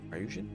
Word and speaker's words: Ryujin: and then we'll do some Mariah uh ryujin ryujin that's how you pronounce it uh work on this questline I'm